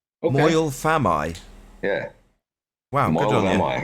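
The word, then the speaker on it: Moel Famau: Actually, I learned how to pronounce it today. By the way, it's Moyle Vamai. Okay. Moyle Famai.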